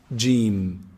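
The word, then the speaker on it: ج: Jim is pronounced from the middle of the tongue, the middle section of the tongue, and the roof of the mouth from inside. Jim.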